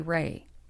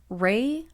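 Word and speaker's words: Rhea: Ray. That's spelled R-H-E-A.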